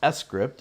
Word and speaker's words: sCrypt: uh oops so the extension script code pronounced script is a high level